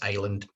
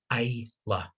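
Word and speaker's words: Islay: asked a question and it was how to pronounce the name of this island and he got a bet wrong that was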